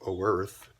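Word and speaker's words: Oerth: He was imprisoned under Castle Greyhawk in the world of Earth. It literally is spelled O Earth, but no A, and the O is in the very front of Earth.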